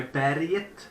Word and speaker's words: Berget: My berget experience, my berget as it's pronounced in Swedish, it was cool.